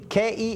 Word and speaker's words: Keselowski: It's Kesloski is how it sounds.